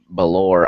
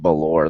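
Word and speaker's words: Bálor: Tommy and and Finn Balor I think it's pronounced ballor there's a little accent across the a which makes me believe it's not you know a short vowel sound it's a long vowel sounds I I believe it's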